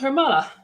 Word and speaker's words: Hermala: My last name is pronounced Hermala. Hermala, by the way, is a Finnish name from my dad's side.